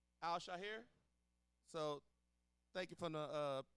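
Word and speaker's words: Al-Shaair: On the Texans side, you had DB Al-Shahir. Shahir? How you say his name? Shahir? Yeah. Al-Shahir.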